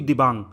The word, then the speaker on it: Dibang: देखो, चाइना से आके मिलती है लोहित, और दूसरी इंडो चाइना बॉर्डर से निकलती हुई दिबांग। अब मैं बोल रहा हूँ दिबांग, यहाँ पर देखो स्पेलिंग DIBANG, दिबांग।